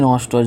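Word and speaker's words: gnostos: तो एग्नोस्टिक which is also an adjective is built on Greek root नोस्टोज, जी नोस्टोज, जी यहाँ पे silent है, नोस्टोज इसका मतलब होता है नॉन।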